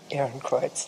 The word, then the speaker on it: Ehrenkreuz: Her honors include the Guggenheim Fellowship, the University of Ghent Sarton Chair, the, correct me if I pronounce this correctly, the Ehrenkreuz from the government of Austria? Ehrenkreuz. Ehrenkreuz, okay.